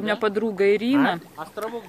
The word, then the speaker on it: Ирина: Вот у меня подруга Ирина. Островок Ирина. Ее муж, ну и все там его родственники, они не могут говорить Ирина, они говорят Айрина. Айрина.